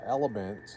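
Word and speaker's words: LMNT: There's another thing is I take a bottle of water, uh, elements is what it's called. LM NT is how it's spelled. Mhm. But it's called element.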